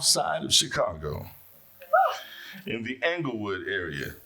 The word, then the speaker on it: Englewood: He was born and raised on the south side of Chicago in the Englewood area. How do you pronounce that, Doctor? Is it Englewood? Englewood, not Inglewood.